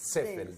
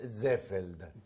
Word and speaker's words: Ziffel: No, en realidad es alemán. Es alemán. O sea que la doble E es Ziffel. Sí. Se pronuncia bien, es Ziffeld, pero Ziffel está bien.